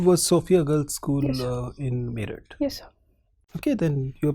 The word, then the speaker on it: Meerut: sophia girl school in merit yes sir okay then you're probably the right person to ask it why merit is spelled as m-e-e-r-u-t it cannot be the spelling of merit you understand that so